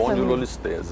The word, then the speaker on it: espondilolistese: A pronúncia é essa mesmo, essa espondilolistese, exato.